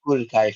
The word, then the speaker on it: Budokai: Is it Budokai? Is that how you say it? oh yeah, yeah, the it's yeah, Dragon Ball Budokai 4.